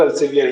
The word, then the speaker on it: Elsevier: International, उसमें भी ELSEVIER, तो उसको बोलते हैं एल्सेफायर, लेकिन बहुत से लोग एल्सेवियर ही बोलते हैं।